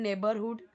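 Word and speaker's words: neighbourhood: ठीक है, बट यही स्पेलिंग है, इसको हम पढ़ेंगे नेबर। नेबरहुड, नेबरहुड, पूरा का पूरा नेबर या ऐसे नहीं पढ़ेंगे। ठीक है, नेबरहुड, ना र पूरा आपको बोलना है ना भ बोलना है, नेबरहुड।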